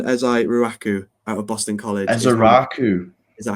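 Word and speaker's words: Ezeiruaku: Ezai-Ruaku.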